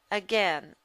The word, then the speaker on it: again: And we have that short E sound in the word again. Again, in the second syllable.